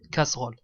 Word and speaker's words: casseroles: avec un goût doux avec la prononciation qu'on prononce pas le le e ici on dit casseroles casseroles laquelle de sicile de